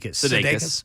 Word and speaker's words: Sudeikis: Sudeikis.